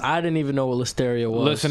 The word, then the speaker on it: listeria: Deadass, I didn't even know what listeria was. Listen, if it rhymes with hysteria, I'm suing you.